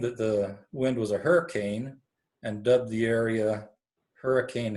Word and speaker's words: Hurricane: in the southern Utah hurricane now those in Washington County know that that's not how you pronounce that they pronounce it hurricane but this name was